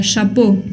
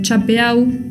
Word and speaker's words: chapeau: me pronuncian por ejemplo la palabra shapo que se escribe con esa combinación e a u si me la pronuncian chapeau no sé de qué